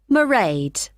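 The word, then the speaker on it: Mairead: you'll see my assistant morade sorry how do you spell that it's m a i r e a d merade okay got that it's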